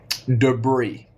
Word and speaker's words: debris: mess debris is mess they are silent yes letters yes debris Havoc Havoc is just